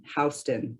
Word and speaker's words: Houston: to in Texas, but I'm told it's the original Scottish pronunciation, Houston.